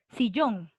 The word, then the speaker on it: sillón: inga lucero a ver sillón aguda o grave aguda es aguda porque la tilde está en la última obviamente si yo muy